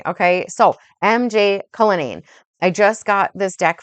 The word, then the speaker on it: Cullinane: It's MJ Cullinane, okay? But I always say MJ McCullinane because the MJ makes my brain think that it's an MC. Okay. So MJ Cullinane.